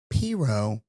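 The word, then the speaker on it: pirogue: pronounce it one way people above I 10 pronounce it the other way so we live above I 10 so we say pero mhm which is like a small boat like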